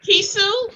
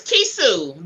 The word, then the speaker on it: Kisu: Yeah, it's pronounced Kisu, you know, like a set of keys and Sue. Mm-hmm. I'm from Robertson County, so you got to bear with me, you know. But it's, you know, it's Kisu. The A is not pronounced, but it's like a set of keys and Sue. Kisu. Gotcha.